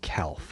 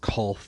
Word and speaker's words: Calth: september theme which was calth or cult depending on how you decide to pronounce it um so we've got